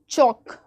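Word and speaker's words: chalk: एल पढ़ते हो ना चौक वेरी गुड चौक चौक में एल एल नहीं पढ़ते हो और वॉक में एल नहीं पढ़ते हो।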